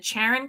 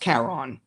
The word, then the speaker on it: Charon: I think it's I think it's it's usually pronounced Karon after the So, I'm completely off after the uh figure in in Greek mythology.